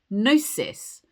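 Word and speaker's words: gnosis: Mystics spoke about nosis spelled G N O S I S.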